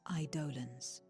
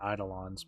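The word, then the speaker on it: Eidolon: fearsome beings known as idolan iolm I mean I I pronounce it idolon but that works to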